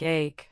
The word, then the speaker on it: ache: Pay attention to the difference between similar-sounding words like ache, which rhymes with cake, and earache or headache.